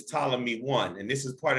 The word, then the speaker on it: Ptolemy: call him ptolemy but the p is silent it's ptolemy one and this is